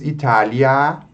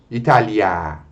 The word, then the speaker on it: Italia: Ele informa você que essa vogal deve ser pronunciada de modo um pouco mais prolongado, tá? Italia, e não Itália. Italia.